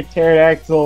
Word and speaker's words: pterodactyl: why can't you hear pterodactyl when he goes to the bathroom cuz the p is silent cuz he's dead